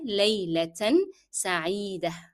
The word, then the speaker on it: ليلة سعيدة: However, with layla, we will pronounce the tanween laylatan, but when we come to sa'ida, we will drop the sound of tanween. It will be there, it will be written, the tanween will be written, but will be dropped in pronunciation as we are stopping here. That is the end of our phrase.